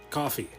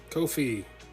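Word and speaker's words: Ko-fi: for a long time i thought that kofi was spelled was pronounced coffee like half a cup of coffee actually not it's supposed to rhyme with no fee kofi rhyming with no fee as in all the fees go towards the streamer the more you know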